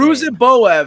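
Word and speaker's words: Ruziboev: Ruzenbo, how do you pronounce this guy's name? Ruzenboev.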